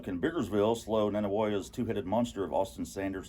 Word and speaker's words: Nanih Waiya: And by the way, that's how you pronounce it. Nanih Waiya, which sounds weird. Waiya? That's what Robbie Falk of the Starkville Daily News told me one time. Okay. I used to pronounce it Nanih Waiya.